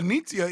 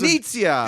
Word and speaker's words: Knizia: Is it Rainer Yeah, Knizia is Knizia.